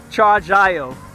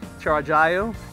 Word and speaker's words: Chargiot: And the way you pronounce that, the T is silent, so it's Chargiot, the name of the company, Chargiot.